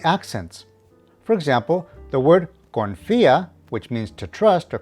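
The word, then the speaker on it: confía: note of the accents for example the word confia which means to trust or confide needs to have the emphasis of pronunciation on the eye so it is confia corazon which means heart is pronounced corazon easy right muy bien tip number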